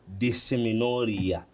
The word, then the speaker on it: dysmenorrhea: Uh but doctor the one that gave it to me will help me on how to pronounce it. How is it called? Disinia. Dissimoria.